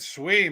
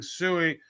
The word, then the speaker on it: Sui: Phantom has just announced that they are going to be adding Sui. I don't know how to pronounce it. Sui. I think of Johnny Cash when I say Sui.